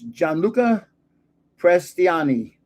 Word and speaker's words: Gianluca Prestiani: And his first name is Gianluca Prestiani. Now, because I studied Italian, I pronounced that properly just then.